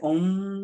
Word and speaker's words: Om: A, O, and or you can say Om, Om.